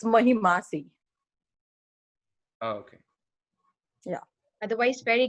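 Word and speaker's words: महिमासि: It's Mahimasi. Oh, okay. Yeah. Otherwise, very good. Otherwise, very good. Well pronounced.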